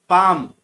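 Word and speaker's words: palm: Third में पाम, पाम में आप देख सकते हैं एल को अंडरलाइन किया है, एल साइलेंट रहता है।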